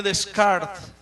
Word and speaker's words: Descartes: 1500 96 de nombre rené descarte se escribe en español o se lee en español descartes y este hombre se